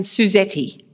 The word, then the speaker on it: Suzette: i go to africa i am suzetti you know different countries pronounce my name different ways it's the same with